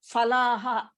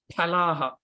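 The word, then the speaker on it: फलः: Falaha. That is wrong pronunciation. That's why I got you. Palaha. It is in Hindi. It is fa. In Sanskritam, there is no fa. The second pa is pronounced as Pa. Phala. Pa. Pa. Oh. Ah. Okay. Pa. The first one is pa. The second one is pa. Pa. Phalaha. So that's how it PHA. differs. The pronunciation differs from Hindi to Sanskritam.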